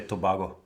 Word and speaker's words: Tobago: And I pronounced Tobago correctly. Wow. In German we say Tobago. Do you? No, that's probably Spanish.